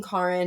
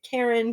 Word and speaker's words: Carrin: brought on myself because my name being Carrin is kind of hard for some people to pronounce sometimes. They automatically want to go to Karen, Corinne, Carmen, or any version that's not my name.